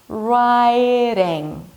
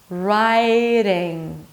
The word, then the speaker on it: riding: word between two vowels, you bring the tongue up, but you just slightly touch the upper palate.